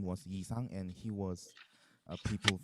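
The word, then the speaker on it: 이상: Sang-bin, and uh, and the poet's name is Yi Sang in pronounced in Korean.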